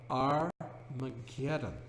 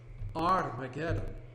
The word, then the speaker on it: Armageddon: Har Megiddo becomes, in the book of Revelation, Armageddon. You do not pronounce the H in Greek.